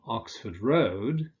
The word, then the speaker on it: Oxford Road: But with roads, you tend to stress the second element, Oxford Road, so you'll also say London Road.